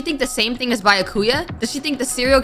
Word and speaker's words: Byakuya: Bakula! Huh? It's Byakuya. Oh, Byakuya. Man, I've been saying it wrong.